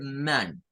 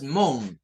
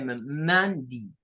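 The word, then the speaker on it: Monday: Entonces vamos a decir man, man. No es mon, es man, man. Man, de. Pero hay personas que la pueden decir que mandi, mandi. Debo destacar que esta pronunciación segunda que está acá con eso de di es poco utilizada.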